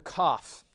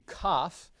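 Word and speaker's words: kaf: a reverse see and cough comes in two varieties it can be without the dot in which case you pronounce it just like the het so it's a huh but if it has the dot then you'll pronounce it like an English K Special K and so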